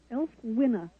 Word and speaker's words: Ælfwine: Now, and once again, I'm now trying to pronounce this name again, Ælfwine? Ælfwine.